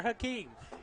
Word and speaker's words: Hakeem: He had talked to me last night about not pronouncing his name right, and I said, "You're Hakeem. You're our man."